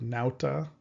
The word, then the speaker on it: nauta: This is like ow in out. So an example is the word nauta, nauta, which means sailor.